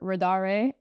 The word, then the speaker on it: radare: So in Spanish you will say radare, but many people Radare.